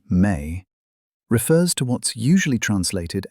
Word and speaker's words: me: The term me, pronounced may, refers to what's usually